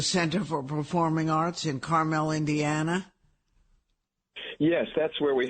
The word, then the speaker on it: Carmel: The pronunciation there is Carmel, unlike Carmel by the sea in California. Right, or Carmel that you eat.